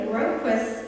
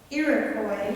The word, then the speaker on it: Iroquois: In the Iroquois, and I said that wrong, and I'm sorry. Iroquois, thank you, it's not spelled like that.